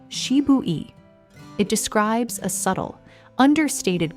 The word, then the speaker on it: Shibui: Here, we reach a genuine Japanese aesthetic idea called Shibui, pronounced Shibui.